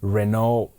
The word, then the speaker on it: Reneau: reading well pronouncing names your name is spelled really really interesting so it's r e n e Au U and the last name is p e u r i f o y so I'm going to try to pronounce it Renault Purifoy that's that's very good okay well I'll just